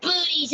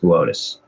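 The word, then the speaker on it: Boötes: the constellation of botus booties botus it says booties on the tele it's pronounced botus whatever the black night satellite is supposed to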